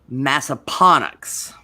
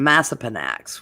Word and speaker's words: Massaponax: of years and did not know how to pronounce this place because even though it's Appomattox, this place is Massaponax instead of Massapanax, which I know.